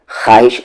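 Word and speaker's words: خواہش: बनाइए make sentences वतन ख्वाहिश ख्वाहिश की स्पेलिंग याद कर ले खा वाव जिसमें वाव साइलेंट है लिखा जाएगा पढ़ा नहीं जाएगा खवाहिश सबक माजरा सदमा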